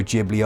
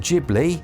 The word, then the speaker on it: Ghibli: And yes, for that person saying Ghibli, it's Ghibli. I know, I always pronounced it Ghibli until I found out that the Japanese pronunciation is a J. I was like, oh man, okay. It's probably not, is it? It's probably somewhere in the middle, but either way, Baldo,